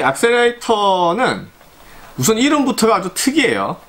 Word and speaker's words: Accerator: 그거를 상상을 하실 수 있는데, 실제 축구의 제품명은 악셀레이터라고 발음이 되고, 이 단어 자체는 영어 사전에 존재를 하지 않아요.